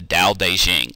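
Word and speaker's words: Dao De Jing: Daoism were called the da de Jing and I know it has a t at the beginning but it's still pronounced with a d and basically what lousy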